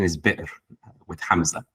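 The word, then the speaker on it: بئر: you see a well, you should pronounce it as bir, not as ber.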